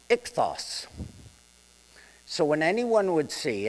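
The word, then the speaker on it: ΙΧΘΥΣ: Now the fish in Greek is pronounced ichthos. So when anyone would see it who was knowledgeable, they'd say ichthos.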